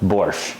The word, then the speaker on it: borscht: was talking about I don't know why borch is spelled with a t in English because in Russian there's no T sound in it at all it's just b o r sh so borch the main ingredients in